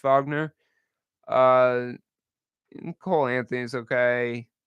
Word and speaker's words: Wagner: but the Wagner the Vagner Brothers spelled you know spelled out Wagner but pronounced Vagner uh Cole Anthony is